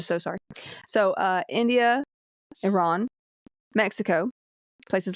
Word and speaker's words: Iran: Uh some uh I think like in India, Iran, is it Iran or Iran? Iran. Iran. If you're going to pronounce it correctly.